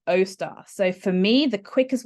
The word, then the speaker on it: Austar: service center okay so she's pronounced it as Oster I want o star so for me the